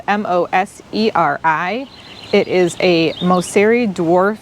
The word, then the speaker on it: Moseri: this Pine is called pinus sylvestris Moser and that's spelled m o s e r i it is a moseri dwarf golden Scots pine